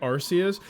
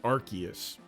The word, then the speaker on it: Arceus: I always say Arus. That's how almost everyone says it, but the correct pronunciation is supposed to be Archus.